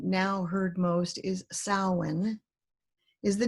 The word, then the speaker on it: Samhain: Spelled Samhain, the pronunciation now heard most is Samhain, is the name of a 2,000-year-old Celtic festival, which means summer's end.